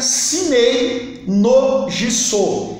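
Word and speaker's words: 生命の實相: seu fundador, um livro que em japonês se pronuncia Shinei no Jiso, que em português significa verdade da vida.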